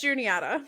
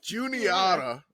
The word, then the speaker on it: Juniata: game by the way it's Juniata Juniata all right 3.3 no you gotta lean into the ah Juniata there we go